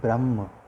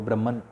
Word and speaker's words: ब्रह्म: ब्रह्म, कई लोग उसे ब्राह्मण भी कहते हैं जब इंग्लिश की बात आती है। आप इंग्लिश में अगर लेक्चर्स देखेंगे हिंदुइज्म पे तो आपको ब्रह्मन शब्द मिलेगा, बट वस्तुतः उसका सही प्रोनाउंसिएशन ब्रह्म है।